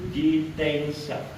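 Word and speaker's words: 自転車: Sepeda itu jitensha. Oke. Hai. Jitensha ya, n dibaca eng ya. Sha dibacanya sha biasa, sha. Jitensha ada kayak y kecil.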